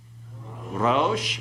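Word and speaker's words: רֹאשׁ: Okay, so pronounce this one, rosh and harosh.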